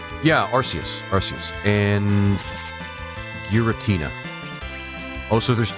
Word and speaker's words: Arceus: Arceus is pronounced Arceus, never mind.